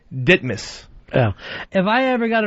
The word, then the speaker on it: Ditmars: There's an avenue in Queens or Boulevard spelled D I T M A R S. All right. Most people would say Ditmars, but the real locals say Ditmas.